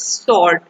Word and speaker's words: sword: this word the word the letter w is silent letter because when we pronounce this word we will not pronounce the w letter in this word that is we will pronounce the word sword that is sword sword